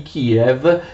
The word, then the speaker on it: Київ: Attenzione, la città di Kiev che gli ucraini scrivono in questa forma e pronunciano Kiev.